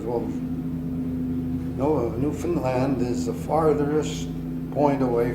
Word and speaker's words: Newfoundland: It was not Newfoundland, it was Newfoundland. in Canada, all the accent is on the last syllable. So when you say Canada, you're supposed to say Canada, and Labrador, and Newfoundland. And that's the way they want you to pronounce it.